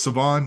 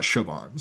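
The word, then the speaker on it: Shavon: The H is silent. It is Savon, not Siobhan.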